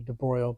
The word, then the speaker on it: de Broglie: calculate the and I should be professional and pronounce it properly de Broglie, but I mean it went to Broglie.